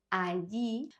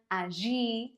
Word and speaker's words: allí: In most Spanish-speaking countries, the double L is pronounced as the Y in the word yes. Yes, lluvia, allí, but also depends on where Spanish is spoken.